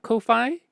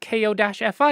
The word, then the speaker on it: Ko-fi: um and so I I look at ko-fi and go oh that's meant to be coffee that that's absolutely meant to be coffee um and that's how I pronounce it oh that's what that